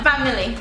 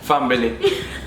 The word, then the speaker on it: family: Family. Fambily. Where the bee come from?